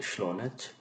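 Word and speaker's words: شلونچ: the feminine counter part it इज a heavy gym like शोनच द gym sound because का is used for the singular masculine second person and जीम एस जार और सीएच एस in church और change so फॉर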